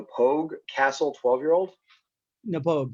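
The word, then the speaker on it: Knappogue: castle 12 year old nepogue yeah yeah i'm glad i skipped the k i pogue uh it's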